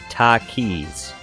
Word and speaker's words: Takis: no clue says spicy chip brand but it's pronounced Takis oh I've never heard of it so I